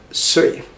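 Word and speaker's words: 岁: Pronounced as sui.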